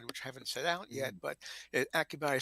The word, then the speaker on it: Akihabara: The and of course, didn't realize until later it's pronounced Akihabara.